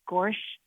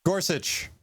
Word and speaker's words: Gorsuch: thing I have to discuss is this judge gorch how do you pronounce his name Gorsuch okay you got it anyways since Trump likes